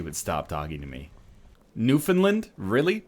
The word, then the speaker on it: Newfoundland: Newfoundland? Really? That's how we pronounce it up here. We say Newfoundland. We don't say Newfoundland. I've never heard it pronounced Newfoundland. Yeah, exactly. We don't say Newfoundland here.